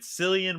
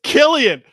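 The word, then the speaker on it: Cillian: has begun filming with selan Murphy and Aaron Taylor Johnson it's Killian oh my God no right off the Jump we gave Killian we butchered his name Killian Murphy and Aaron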